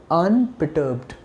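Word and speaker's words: unperturbed: भी हो सकता है इट is difficult for यू गाइ to pronounce it ट्स व्हाई आई am telling you this is अन परटर्ब से with me अन पट that means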